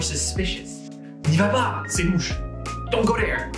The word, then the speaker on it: louche: Today we're going to talk about the word louche, which is a great word to start supplementing your adjectives.